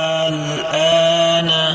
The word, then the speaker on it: الآن: Nah, contohnya الآن. الآن. Nah, bacaan A itu dipanjangkan dulu ya, kemudian baru disambut oleh huruf hijaiyah berikutnya, yaitu huruf lam.